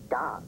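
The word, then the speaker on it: dawg: D-A-W-G. Pronounced dog.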